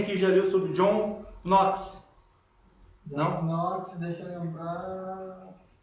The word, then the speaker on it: Knox: Aí o Knox é com K, né? Mas se lê John Knox. Né? Não se pronuncia o K que é mudo.